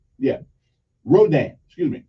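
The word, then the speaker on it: Rodin: I think his last name is Mudah yeah Rodan excuse me Rodan okay but they spell r-o-d-i-n how am I supposed to know it I mean how am I supposed to know it's it's pronounced like a r-o-h-d-a-n how am I supposed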